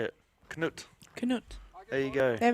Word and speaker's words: Knut: Knut. Sorry for those people who were trying to tell me to pronounce it the correct way.